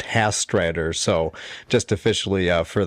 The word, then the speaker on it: Hastreiter: I am absolutely outstanding and the last name is pronounced Hastrider.